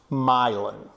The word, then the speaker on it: Milan: made from myelin straw myelin is spelled like Milan Italy m-i-l-a-n but it is pronounced myelin um and myelin straw